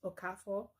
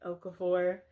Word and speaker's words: Okafor: I know Abbott Elementary had a Nigerian student in season 2 cuz her last name was Okafo but they pronounced it Okafor.